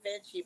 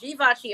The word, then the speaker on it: Givenchy: Everybody tries to pronounce it Givenchy, but it's Givenchy.